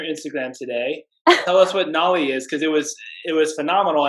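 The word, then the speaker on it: Nauli: it before, and I'm going to botch the pronunciation of this. I'm only Go for assuming it. Nolly. You nailed it. Nolly Kriya. Yes. Yeah. So you had a post on your Instagram today. Tell us what Nolly is, because it was phenomenal.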